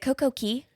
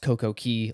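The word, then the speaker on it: CocoCay: it it almost looks like Coco is it CoCo Key I think they call it Coco K to rhyme it's pronounced CoCo Key like properly but that's cariban yeah it kind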